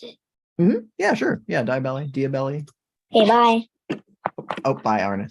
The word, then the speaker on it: Diabelli: Is that how you pronounce it? Yeah, sure. Yeah, Diabelli.